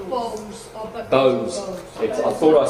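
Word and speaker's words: Bowes-Lyon: And he's a Beauce Leon. Have I said that wrong? Queen Elizabeth is a Beauce Leon. We know that, don't we? Beauce. More like Bose.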